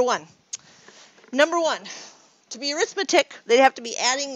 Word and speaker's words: arithmetic: And again, I suppose I should remind everybody it is supposed to be pronounced arithmetic, but arithmetic just makes more sense.